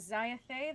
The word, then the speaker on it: Xiathay: So welcome to Xiathay, and we're gonna say that is how you say it, Xiathay. There's got that accent over the E.